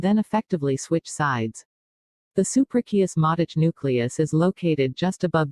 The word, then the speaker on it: suprachiasmatic: The 24-hour biological clock sitting in the middle of your brain is called the suprachiasmatic, pronounced su-pra-chiasmatic nucleus.